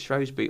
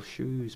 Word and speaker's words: Shrewsbury: I never know how to pronounce it, if it's Shrewsbury or Shrewsbury. I would say Shrewsbury. Is that wrong? Well, it's wrong where I was born.